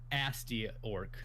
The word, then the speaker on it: Gnasty Gnorc: Nasty Gnorc. Gnasty Gnorc. Because there's a G in front of it. I'm sorry, it's quiet. Asty Orc.